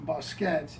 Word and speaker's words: bouquet: and as it evolved the pronunciation of the word went from boset to uh bouquet somewhere in the 17th century um the evolution of